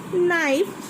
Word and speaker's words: knife: Number 1 is knife, so I will circle K.